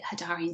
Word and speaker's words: Hadarian: experience have been um the hedarian starseed and I do pronounce it hidarian sorry with I've been from Australia um and um yeah